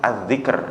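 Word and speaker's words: الذكر: ulama mengatakan la tatruk az-zikr. Ini hati-hati bacanya ya. Ini horor ini ya, kalau ini yang pernah saya sampaikan ya. Az-zikr apa zakar kan enggak sih itu.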